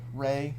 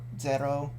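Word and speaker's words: 零: Just for information there, 0 is either rei, the kanji there, or zero, katakana based on the English word 0.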